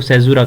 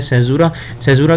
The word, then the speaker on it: caesura: تو اس literary device کو سیزورا کہا جاتا ہے، CAESURA. یہ اس کی اسپیلنگ ہے سیزورا کہا جاتا ہے اس کو.